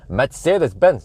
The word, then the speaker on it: Mercedes-Benz: horsepower in the freaking uh Mercedes Mercedes no Mercedes-Benz that's how you pronounce it correctly not like the like the